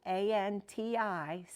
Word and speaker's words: Antichi: Punti, that's Punti, Antici, Antichi.